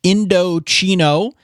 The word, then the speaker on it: Indochino: Indochino, it's Indochino, pronounced Indochino. And yes, you hear chino in there, that's because they are expanding into casual clothing, including made-to-measure chinos, which will quickly become your go-to pant.